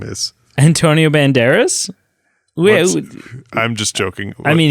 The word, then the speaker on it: Banderas: Is not the same as Antonio Bandera or whatever his name is. Antonio Banderas?